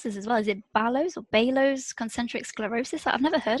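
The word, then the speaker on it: Baló's: your misdiagnosis of, is it, how do you pronounce this as well? Is it Balo's concentric sclerosis? I've never heard of that. Yeah, Balo's concentric sclerosis.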